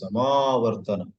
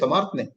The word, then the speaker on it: samāvartana: I grew up in my small town and I always heard the word mispronounced. There is marriage in that family, and the next Friday is Samartne. They used to say Samartne.